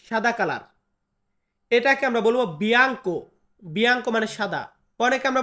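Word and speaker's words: bianco: সাদা কোন একটা জিনিস সাদা কালার, এটাকে আমরা বলবো বিয়াঙ্কো। বিয়াঙ্কো মানে সাদা। অনেকে আমরা বলি বিয়ানকো। তো বিয়ানকো বিয়াঙ্কো দুইটা একই।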